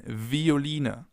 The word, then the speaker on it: Violine: It can either be pronounced like the F, as in Veilchen, Veilchen, or like a V, as in Violine, Violine, violin.